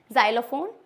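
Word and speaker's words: xylophone: की साउंड देता है for example xylem second जाइलोफोन xenophobia कुछ-कुछ एक्सेप्शन होते हैं जैसे कि एक्सरे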